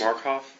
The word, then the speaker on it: Markoff: here this afternoon is Mr would you pronounce and spell your last name please markof MK o okay and with that also uh